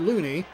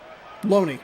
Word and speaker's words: Loney: I'd said it differently, and then I was like, oh, I thought I heard Looney. That's it. We're done. The rest of the season's over. Because I can't pronounce one last name. 0-2. So Loney.